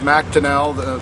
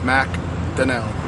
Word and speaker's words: McDonell: It's McDonell. The McDonell is the Scottish side, and it looks Irish, but I'm both Scottish and Irish, but it's pronounced McDonell.